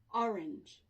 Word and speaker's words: orange: And here the stress is on the first syllable. Oh, orange.